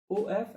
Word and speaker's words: of: We pronounce this OF as OV, of.